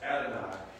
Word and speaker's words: Adonai: Now, the Lord in upper and lower case is pronounced Adonai.